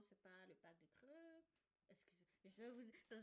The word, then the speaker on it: Krk: Naturellement, c'est pas le parc de Creux. Excusez, ça s'écrit KRK, donc si vous pensez que je vais mal prononcer.